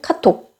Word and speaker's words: 카톡: 짧게는 카톡. 이렇게 발음합니다.